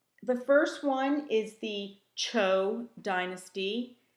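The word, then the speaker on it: Zhou: going to help the first one is the Cho Dynasty Z hou is pronounced Cho and this is where the whole concept of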